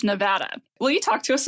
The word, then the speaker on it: Nevada: thing because you know it's typically Western people that know how to pronounce Nevada like nevadans do it I grew up in the east and there we said Nevada I'm probably going to